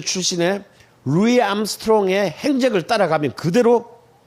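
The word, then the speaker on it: Louis Armstrong: 이잖아 암 으로 그런데 저걸 루이스 암스트롱 라고 읽으면 안 되요 루이 암스트롱 이에요 그러니까 이것도 뭐예요 우조 이름도 프랑스 방식으로 우리가 입니다 자의 루이 1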